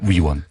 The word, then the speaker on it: 위원: 발음을 정확하게 해주십시오. 의원이 아니고요. 위원입니다. 위원.